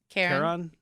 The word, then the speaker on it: Charon: I really love the effect of, how'd you pronounce it again? Charon.